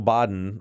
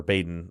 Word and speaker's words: Baden: But Michael Bodden, or Baden, I've heard it pronounced both ways, is saying that it looks more.